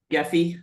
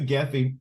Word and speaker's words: Gephi: to get that to work, and I'm using Gephi. I think that's how you pronounce it. Yep. And I've imported the file. However, you get the data visualization. Yeah, but Nicholas, when you do Gephi, when you use Gephi or Cytoscope, any of